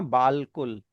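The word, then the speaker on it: بالکل: तो ये बना बालकुल। लेकिन हम इस बालकुल को बोलते हैं बिल्कुल।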